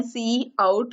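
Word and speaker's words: cout: करने के लिए कि सी आउट को हम प्रोनाउंस कर सकते हैं सी आउट और सी इन को सी इन और इसके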